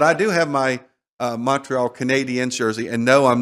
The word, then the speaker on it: Montreal: Montreal. Mon. Don't even pronounce the T. Montreal.